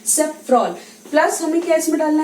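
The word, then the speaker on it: safrole: तो सेकंड देखो यहाँ पे कॉन्स्टिट्यूएंट क्या है, सेफ्रॉल, क्योंकि ये अल्कोहल इसमें है इसलिए इसका स्पेलिंग क्या हो गया, सेफ्रॉन नहीं बोल के हम क्या बोलेंगे, सेफ्रॉल।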